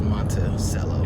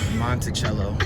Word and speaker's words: Monticello: headed to monticello monticello i've never heard it pronounced as monte cello ari what's it called i don't know monticello we're going to thomas